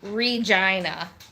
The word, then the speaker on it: Regina: Yeah, also, just to clarify, that town's name is Regina. The place that rhymes with fun.